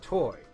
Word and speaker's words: TOI: it as a breeze it's spelled POI but is read as toy as in it's easy to use as a toy why doesn't that sound